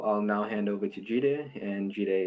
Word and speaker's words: Jide: My name is spelled J-I-D-E, but pronounced Jide, right?